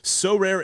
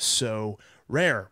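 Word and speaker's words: Sorare: cards and accessing Next Level competitions and rewards so rare MLB games happen twice weekly and span a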